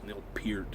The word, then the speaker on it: Neil Peart: Neil Peart is actually how he pronounces it. Not Babyface Huey, but Neil Peart.